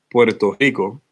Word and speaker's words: Puerto Rico: When you think about, well, when I think about Puerto Rico, or as my parents would want me to say it, Puerto Rico, okay, how it's correctly pronounced.